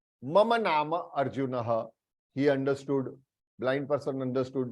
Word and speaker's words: अर्जुनः: For example, Arjunah, here R is half, आधा र है, तो अर्जुनः, अर्जुनः ऐसे प्रोनाउंस करना है, अर्जुनः.